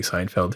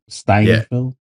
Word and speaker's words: Steinfeld: It was so much fun just watching him and Haley Seinfeld together. yeah. Or is it Steinfeld? I always get her name wrong. Great Haley chemistry. Yeah, Steinfeld.